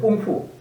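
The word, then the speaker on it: 功夫: 꽁푸. 우리가 그 중국 무술 쿠무 있죠. 쿠무 이것이 꽁푸입니다. 이 공부를 갖다가 중국 발음을 하면 꽁푸가 됩니다.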